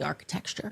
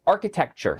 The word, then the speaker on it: architecture: But really, it was about the architecture. Oo. Uh, this is a big one. It's architecture.